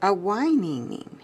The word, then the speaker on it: Awhinging: It's Awhinging. It's spelled A-W-H-I-N-G-I-N-G.